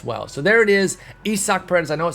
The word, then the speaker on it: Isaac: him out as well so there it is isaac i know it says isaac there for most of y'all but it's actually pronounced isak paredes and he is the tigers team affinity